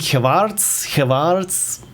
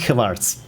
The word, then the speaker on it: Gevaerts: The A is pronounced more or less like the R in Strahl. So Gevaerts, Gevaerts.